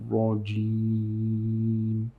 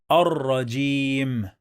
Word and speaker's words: الرجيم: When we add al to any word starts with ra, we don't pronounce the lam.